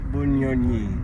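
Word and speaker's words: Bunyonyi: सुबह अभी इधर आने से पहले हम गए थे lake बुनिनोई। What's that pronunciation? I keep on forgetting it. बुनियोनी।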